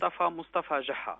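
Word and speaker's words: Moustafa Geha: And that's pronounced Mostafa Geha. Geha with a G, G-E-H-A.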